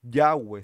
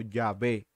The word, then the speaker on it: Yahvé: Entonces, hasta donde tengo entendido, la mejor pronunciación para el término Yahweh, como uno cree que se dice, no es Yahweh, sino Yahvé, Yahvé, o sea, Yahvé.